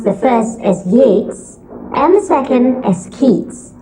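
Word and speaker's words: Yeats: Yates and kids are spelled almost alike we pronounce the first as Yates and the second as kids go figure what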